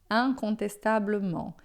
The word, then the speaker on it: incontestablement: Si c'était un homme riche, incontestablement, incontestavelmente. Un, tá? Lembra sempre, in é sempre un, incontestablement.